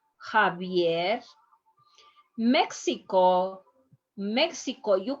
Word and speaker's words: Javier: especially in proper names javier when a patient is coming with this name please please don't tell him ex-savior that's not name is javier remember the x is going to be like